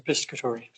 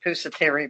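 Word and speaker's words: Pisciottano: Senator Piscatori. Piscatori. I always want to say Pusateri, but he also spoke on legislation that they're working towards for our better interest.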